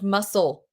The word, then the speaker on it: muscle: week are muscle and muscle. Who spells this word? And in your brain, you're saying muscle so that you spell it right. Of course, the C is silent technically or the C is soft.